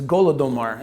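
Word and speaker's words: Holodomor: starvation is called the holodomar and the holodomar this means in uh in in russian is golodomar is how they say it but it means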